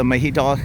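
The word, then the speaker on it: Mahidol: university on paper but a young taii lady told me say mahid and you'll be okay and here's another hospital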